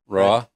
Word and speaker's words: roja: Did I pronounce that right? Roja?